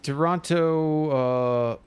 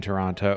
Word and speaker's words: Toronto: We know you're American since you pronounce the other T in Toronto.